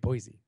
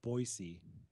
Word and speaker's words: Boise: from Boise Boise bright Boise bright Boise I think we got grilled on on that pronunciation Boise I think it's boisey even if it is I'm going Boise I'm with Boise Boise Boise Boise out